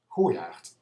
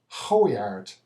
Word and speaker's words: Goijaart: below the River Rhine, it should be pronounced according to how everything else is pronounced there, with a soft G and a proper R. Unfortunately, the local dialect hardly pronounces the R when it precedes a T, but listen closely and you will hear it. Here we go. Goijaart. A person from above the rivers would say Goijaart, but because of its